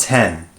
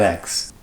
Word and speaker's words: iPhone X: tent two months later it's pronounced 10 not X now changes were definitely